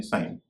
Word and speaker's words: sign: जी भी एन से पहले साइलेंट हो जाता है अगर GN शब्द के अंत में हो, जैसे साइन, SIGN साइन, RESIGN रिजाइन, FOREIGN फॉरन या फॉरेन।